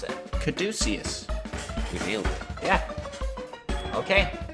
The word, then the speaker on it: Caduceus: How do you pronounce it? Caduceus.